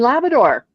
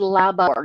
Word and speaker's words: Labrador: And one happens to be from Newfoundland and Labrador. Yes. So notice I said Labrador, not Labrador, and Newfoundland and not Newfoundland or No, it's new.